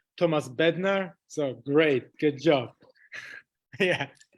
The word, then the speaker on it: Tomáš Bednář: Like in Czech, we call it Tomáš Bednář, but it's really hard, like Z. So I prefer Tomáš Bednář.